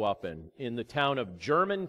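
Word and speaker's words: Jermyn: Very grateful for the church that I had the privilege to grow up in the town of German, Pennsylvania, spelled with a J, J-E-R-M-Y-N.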